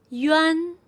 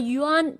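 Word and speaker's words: üan: Make sure you notice that A here is not pronounced as a. It's not Yan. That's wrong. The correct one is Yan. A here is pronounced like E, like bed.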